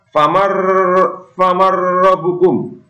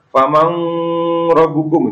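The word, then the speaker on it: فمن ربكم: Selanjutnya, famar rabbukum. Terdapat huruf nun mati bertemu ro. Ini juga tidak boleh dibaca mendengung. Misalkan famang rabbukum, itu tidak boleh.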